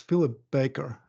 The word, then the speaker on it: Philip Baker: tax stories and uh today my guest is Philip Baker uh did I pronounce it right philli absolutely right bakeer like